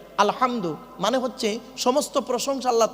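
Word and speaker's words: الحمد: আলহামদু, এই গলার ভেতর থেকে হেটা উচ্চারণ করবেন। আলহামদু মানে হচ্ছে সমস্ত প্রশংসা আল্লাহ তোমার।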